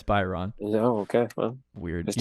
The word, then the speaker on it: Byron: Is it Byron or Brian? Byron. It's Byron.